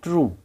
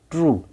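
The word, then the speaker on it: true: टी आर यू ई, ट्रू, ट्रू।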